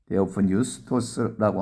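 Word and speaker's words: θεόπνευστος: 모든 성경은 하나님의 감동으로 된 것이라고 번역했습니다만, 헬라어 원전 성경으로는 발음을 하면 데오프뉴스토스라고 하는데, 이 단어의 뜻을 직역하면 이렇습니다.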